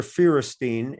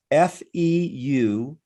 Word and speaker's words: Feuerstein: like doctor, Feuerstein. So it's like the word fewer, Fewer, but it's Feuer and then Steen.